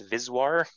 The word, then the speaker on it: VSWR: lovely parameter that peop that people pronounce viswar but it's the voltage standing wave ratio so antenna engineers almost